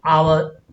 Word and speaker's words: hour: H is silent and the pronunciation of it is hour.